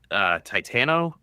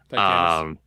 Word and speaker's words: Titanus: Titano. Titanus. It's spelled Titanus. tit anus. You'll never forget it now.